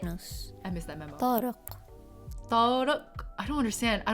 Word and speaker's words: Tariq: Tariq is the hardest pronunciation in Arabic. The Q? Is it not just a hard K sound? Stress that Q, bestie. You got this.